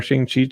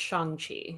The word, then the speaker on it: Shang-Chi: And wow, we got our Shang-Chi tickets. Like, there's just a lot, guys. I have heard that it is pronounced Shang-Chi.